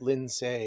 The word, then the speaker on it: Lindsay: Lindsay is how you say that.